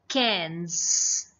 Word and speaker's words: quinze: It's quinze.